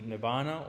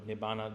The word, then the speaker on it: nibbana: So part of this, also part of the third noble truth is the nibbana or nibbana. There's a variations of how they say it.